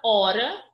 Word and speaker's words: hora: a pronunciamos por exemplo a palavra hora possui 4 letras porém como não falamos o h ela possui apenas 3 com ele lembrando que